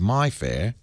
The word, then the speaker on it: Mayfair: They're saying Henry Higgins lived in Mayfair, pronounced by Cockneys as My Fair, and that's where My Fair Lady comes from.